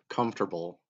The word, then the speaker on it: comfortable: I say four syllables.